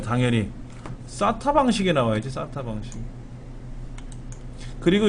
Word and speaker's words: SATA: 그래서 이거를 SATA라고 읽어요, 그냥 SATA.